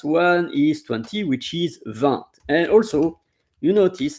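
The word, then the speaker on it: vingt: So the last one is 20 which is v and also you notice it's really rare that I hear vanked. It's even um I never heard that that vanked. It's v the g is silent.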